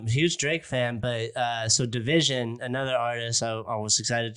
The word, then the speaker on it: DVSN: I'm a huge Drake fan, but so Division, another artist, I was excited to see if KD had discovered yet.